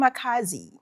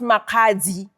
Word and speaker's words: Makhadzi: pronounce Makhadzi, I It's- don't hear the D. I don't. You don't hear the D, ne? Pule, I miss you. It's silent, that one.